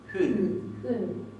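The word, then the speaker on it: hún: Y fíjense que acá tenemos la U y no tiene acento. Y no se pronuncia U, es hun. Hun.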